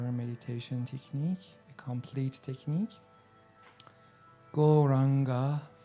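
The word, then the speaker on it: Gauranga: to add the Mantra goranga to our practice churning that to a proper meditation technique a complete technique goranga this wonderful Mantra has four syllables on God so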